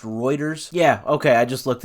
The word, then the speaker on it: Reuters: I think it's pronounced Reuters. Yeah, okay, I just looked it up. Thank you, Google. Yeah, it is Reuters. I always want to say like Reuters.